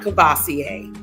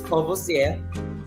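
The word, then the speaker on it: Courvoisier: Hennessy and Martel um not kassier you can listen to the rappers all you want that is not how you pronounce um this this uh cogc is kosia uh and this is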